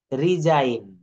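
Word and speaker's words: resign: ঠিক তদ্রুপ একই নিয়মে রিজাইন রিজাইন এই এস আই জি এন অর্থাৎ এই জি এন মিলে এর উচ্চারণটা কিন্তু আইন হয়ে যায় ডিজাইন রিজাইন তারপরে রয়েছে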